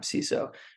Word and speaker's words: CISO: don't have the full-time CSO um I think ceso is the correct pronunciation by the way we could argue